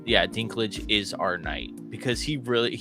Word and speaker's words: Dinklage: Peter Dinklage, yeah.